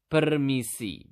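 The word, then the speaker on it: permisi: excuse me in Bahasa to say excuse me in basa you simply just need to say permiss okay how do you say it again per Mei Peri okay so that's how you say excuse excuse me per and then how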